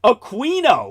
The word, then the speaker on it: Aquino: He was Q as in Aquino which is how he wanted his name pronounced.